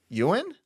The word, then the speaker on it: Ewan: Ewan? Ewan Mitchell. Yeah, like your boy Ewan McGregor.